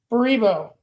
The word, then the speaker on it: Baribo: Baribo, you mean? That's how you say it. Yeah. I kind of like it being rhyming with Haribo, though.